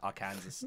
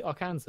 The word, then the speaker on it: Arkansas: what did you say Arkansas Arkansas Arkansas is it yeah there's like this huge like finger like why is Kansas and Arkansas not pronounced the same oh I was the